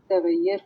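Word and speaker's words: تغییر: اس کا تلفظ ڈاکٹر صاحبہ تبسم صاحبہ تغیر ہے، یہ 2 دفعہ یہ کی بات پشت سر ہم یہ جو ہیں تو اس کو ہم تغیر بولتے ہیں.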